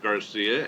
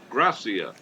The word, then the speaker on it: Gracia: It's not Garcia, it's Gracia.